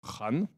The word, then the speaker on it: Khan: À la base, ça se prononce Khan, mais encore une fois, parce qu'on veut pas paraître raciste, même si on n'a rien contre les racistes.